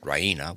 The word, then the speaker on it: Raina: of good news ryna she pronounces it ryna with the stress on the e raina she goes to